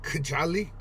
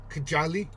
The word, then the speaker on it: Kajali: I would pronounce that Kajali. Kajali. That'd be right.